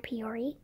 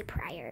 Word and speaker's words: Peoria: know or just put Peoria and that's how you pronounce my last name some people say prior it's not if it's prior it would not have an e but anyways if you